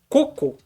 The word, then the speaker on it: cocô: é o mesmo caso se você ver a palavra tá escrito sem acento a sua pronúncia é coco se você vê com acento o acento indica que aquela palavra é oxítona e aí você vai pronunciar cocô beleza ai ai que